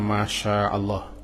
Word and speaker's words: Masya Allah: Misalnya Masya Allah, tidak dipanjangkan ma-nya. Kalau kita tidak panjangkan ma-nya, berubah artinya.